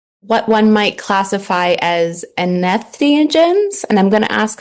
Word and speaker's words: entheogen: First of all, tell me, how do I pronounce this word? So the word, entheogens?